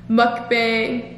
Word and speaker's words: mukbang: I'm supposed to be filming with how to pronounce mukbang.